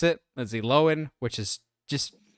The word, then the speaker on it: Lindsay Lohan: And yes, that's how you pronounce it, Lindsay Lohan, which is just sounds weird to say.